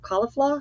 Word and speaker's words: Caulifla: would have liked to tried maybe for CIF caulifla is that how you say it caulif oh